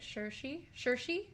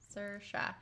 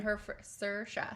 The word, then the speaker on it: Saoirse: Shersha is Or Saoirse. Sir, like sir, and then Shah. Saoirse. There you go. She is Say it again? Saoirse.